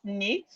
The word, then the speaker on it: knit: Nit the K is silent knit.